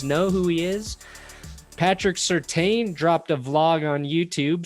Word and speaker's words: Surtain: Patrick Surtain dropped a vlog on YouTube, so I want everybody to get at Patrick Surtain and his mentions on Twitter and tell him to collab with me.